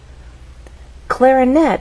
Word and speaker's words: clarinet: our voice Glide up clarinette has three syllables clarinet but it's the final syllable that is stressed and there's a pause